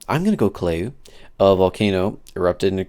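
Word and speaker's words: Kīlauea: Last little actual topic I had was Hawaii's Kaleu. Oh, man, my mom's gonna kill me every time I mispronounce a word.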